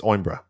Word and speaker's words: Coimbra: The C is silent. It's Oimbra.